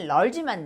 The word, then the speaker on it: large: large도 끝에 이가 있어요. 이가 소리는 없지만 끝에 붙어 있는 스펠링이야. 그러니까 여기서는 소리는 large만 나.